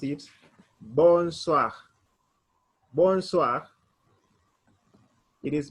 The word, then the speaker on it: bonsoir: say bonsoir or i we will pronounce it like wa so it will be